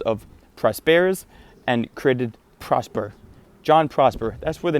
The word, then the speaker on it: JonProsper: I just chopped off the Jin, spelled G-E-N, and made it John because it's pretty much pronounced the exact same way. And I took the last 3 letters of Prosper's and created Prosper. JonProsper.